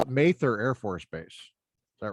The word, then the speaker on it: Mather: people, but of course, yeah, they call it Mather Air Force Base. Is that right? yes, Yeah. yep. That's interesting because my last name is spelled the same way, but we've always pronounced it Mather, Mather.